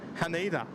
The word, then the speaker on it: Haneda: Haneda. Emphasise each syllable individually.